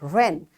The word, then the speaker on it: wren: it's a beautiful word ren so it's written with w but it's utter with r run run wrinkle